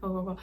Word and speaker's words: Ogho: Ogogo. It's spelled Ogho.